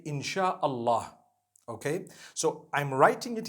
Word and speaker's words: insha Allah: as when people read it they read it insha Allah because a transliteration means nothing it just it